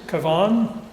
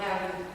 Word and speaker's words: Cavan: This is a Mary Monaghan who had come from County, and I'm probably going to mispronounce this, Cavan? No, Cavan.